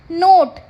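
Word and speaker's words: knot: आटा गूना नेक्स्ट है नोट इसमें भी जो के साउंड है वो क्या है साइलेंट है तोन नोट मतलब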